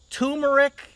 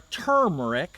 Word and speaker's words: turmeric: Then turmeric or turmeric, however you want to pronounce it, turmeric and turmeric, both are liked.